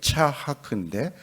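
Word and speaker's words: יצחק: 이삭은 원래 발음이 차하크인데 그가 웃는다.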